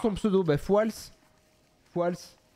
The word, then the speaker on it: Fouals: Fouals. Voilà, Fouals, F-O-U-A-L-S, en fait. On dit le S à la fin.